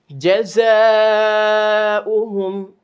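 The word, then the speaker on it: جَزَاؤُهُمْ: জাযাউহুম, জাযাউহুম, আলিফ টান, মাদের হরফের পরে আমরা পাচ্ছি হামজা, সেজন্য ওয়াওটা উচ্চারণ হবে না, ওয়াওটা শুধু লেখায় আসবে।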